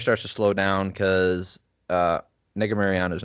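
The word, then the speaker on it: Negumereanu: Negu Mariano.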